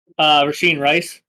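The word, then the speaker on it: Rashee Rice: Is it Rashi? How do you pronounce his name? Rasheed Rice.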